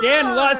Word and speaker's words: Dan Locke: It doesn't rhyme with schmuck. It's Dan Locke.